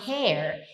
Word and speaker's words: hair: Her, her hair. E cabelo, Brasil, é como se você pronunciasse assim, ó. Hair. Tá vendo que então o primeiro é her, é fechado. O segundo é hair é aberto.